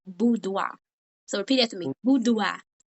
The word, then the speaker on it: boudoir: And the correct word, what we're going to learn today, is it's pronounced boudoir.